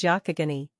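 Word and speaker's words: Youghiogheny: Wink with a frown nine but the common pronunciation is Yakagani and the inhabitants in these parts call it the Yak River.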